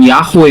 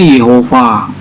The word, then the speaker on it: Yehova: Kalau Bapak bacanya itu yang Aleppo Codex itu bacanya bukan Yahweh ya. Di situ udah ada huruf hidupnya. Bacanya Yehova.